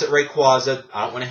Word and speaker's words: Rayquaza: Weather Trio of Groudon Kyogre and Rayquaza I pronounce it Rayquaza AA I don't want to hear any bitching